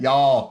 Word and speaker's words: y'all: what is that how do you say that y'all y'all yeah okay i was from california it